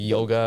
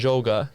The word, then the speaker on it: Joga: I heard a lot of people say like yoga or like stuff like that, and it gets funny, but that's not what it means. So you pronounce it Joga, okay?